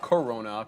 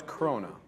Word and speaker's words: krona: It's not Corona because there's no OR. It's Krona.